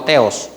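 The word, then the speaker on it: Theos: Dios, el nombre Dios, que también, ¿verdad?, se pronuncia como Teos.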